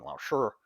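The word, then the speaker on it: 老师: Lao-Shi is the proper pronunciation, but anyway, I appreciate the 2 t-shirts.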